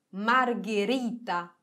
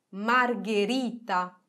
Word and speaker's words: margherita: g e la e diventa un suono duro e si pronuncia come che che ad esempio margherita margherita traghetto traghetto ghepardo ghepardo